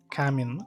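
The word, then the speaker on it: камин: Вот man hozir o'tirib уже mana bu kamin ovozi kaminmi to'g'ri aytyapmanmi? Kamin вроде. Kamin на и ударение.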